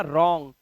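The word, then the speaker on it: wrong: एक और रूल कि डब्लू के बाद अगर आर है तो डब्लू का उच्चारण आपको नहीं करना है आपको सिर्फ राइट रिस्ट और रंग बस इतना ही पढ़ना है चलिए चलते हैं रूल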